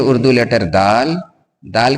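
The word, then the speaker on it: دِ: यह है उर्दू लेटर दाल। दाल के नीचे ज़ेर की मात्रा है। ज़ेर के आ जाने से अब इसी दाल का उच्चारण इ के रूप में होगा। यानी अब इसे दी पढ़ेंगे।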